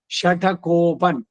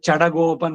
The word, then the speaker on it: ಷಟಕೋಪ: ಅನ್ನುವ ಏನೋ ಕೋಪದಿಂದ ತೆಳೆದವನು ಷಟಕೋಪನ್ ಅದು ಹೋಗ್ಬಿಟ್ಟು ಚಡಗೋಪನ್ ಆಗೋಗಿದೆ ಚ ಟ ಹೋಗಿ ಡ ಕೆ ಗ ಚ ಷ ಚಡಗೋಪನ್ ಚಡಗೋಪನ್ ಅಂತ ಸರಿಯಾಗಿ ಉಚ್ಚಾರಣೆ ಷಟಗೋಪ ಷಟಕೋಪ ಷಟಕೋಪ ಅನ್ನೋದೇ